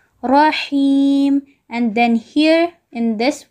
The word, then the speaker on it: رحيم: Here again there is a ra, and on the ra there is fatha, so we are going to read it heavily. Rahim.